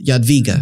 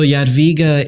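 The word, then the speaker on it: Jadwiga: of Lithuania who's Queen how do you say her name queen yot viga ya idiot Vika so yet viga is sure she was a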